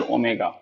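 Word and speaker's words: Omega: काई, ये साई, ये ओमेगा। देखिए अभी तक आप इसको पढ़ते होंगे ओम, लेकिन ये ओम नहीं है, ये कैपिटल ओमेगा है और ये स्मॉल ओमेगा है।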